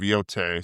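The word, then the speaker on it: Yōtei: And I think it's actually pronounced Ghost of Yote, so I'm just sounds stupid.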